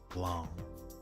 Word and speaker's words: Blanc: Blanc. Blanc. Blanc. Blueblanc. So as Blanc is supposed to be pronounced more on blonde, but very nasally, with the tongue against the upper of the mouth for Blanc.